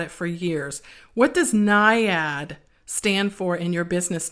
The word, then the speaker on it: Naiad: It can be pronounced Naiad or Naiad. People often ask me how to pronounce it, but I pronounce it Naiad. Okay, it looks like Naiad, so you can actually include the I in there.